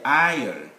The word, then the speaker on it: isle: to letter s now letter s the viewers is normally silent here when there is l i between a i and l isle island even at the end